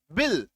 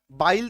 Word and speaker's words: bill: ये देखो BILL, बिल, ई, छोटी, ये वाला, है ना, इसका उच्चारण आ रहा है। अब इसको हम लोग बाइल तो नहीं पढ़ रहे, आई का उच्चारण क्या होता है, आई, तो बाइल हो जाएगा, बाइल तो नहीं, बिल कह रहे हैं, ठीक है।